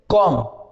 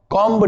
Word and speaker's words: comb: ऐसे ही COMB, आप इसको क्या बोलोगे, कॉम, कॉम्ब नहीं, कॉम।